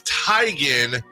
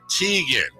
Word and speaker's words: Teigen: It's Tygan, not Tegan.